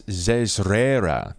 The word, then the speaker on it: Zezrera: It's Zezrera. It's like Zszraera is what it really kind of pronounces to. Zezrera, which is the closest that you're going to get to the Underdark pronunciation of her name.